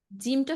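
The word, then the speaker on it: جيم: এবার ঠিক আছে জিম শক্ত করে জিম জিম আচ্ছা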